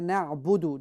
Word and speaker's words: نعبد: Then Iyyaka na'budu. Don't prolong it. There is on the dal, there is no waw. After dal, there is no waw, there is only dhamma. So say Iyyaka na'budu.